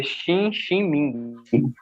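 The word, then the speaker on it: Xinxin Ming: Se pronuncia Xin Xin Ming.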